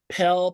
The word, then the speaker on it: Pell: Probably the most famous grant that you guys know of is probably the Pell Grant. Rhymes with smell. Pell, Pell, Pell.